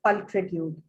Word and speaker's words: pulchritude: So it's the word is pulchritude and it means beautiful. Ma'am repeat कर दे एक बार, ये words कैसे pronounce करना है? Pulchritude, क की साउंड आती है इसमें, केमिस्ट्री वाली.